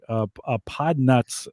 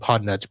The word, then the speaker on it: Podnutz: All right, so Podnuts Pro is spelled PODNUTZ. So almost like it sounds, except with a Z.